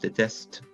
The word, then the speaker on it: déteste: Déteste, same idea. The E is being pronounced déteste. The ENT there is just kind of falling off the end.